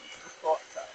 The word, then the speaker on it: ricotta: I'm trying to say it like the Italians, ricotta.